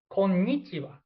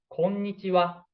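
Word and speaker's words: こんにちは: So if you want to settle in Japan, we hear like konnichiwa from local international traveler, like konnichiwa, hello, konnichiwa, konnichiwa. But correct one is konnichiwa, konnichiwa. This is important.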